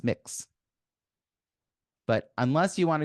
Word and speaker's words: Mx: identify with either Mr or Miz and it's pronounced mix but unless you want to go through the